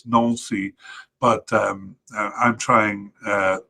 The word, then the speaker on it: Nancy: Um I know it's not pronounced Nancy, it's Nuli, but um I'm trying uh to kind of balance an English and French accent uh when I say this.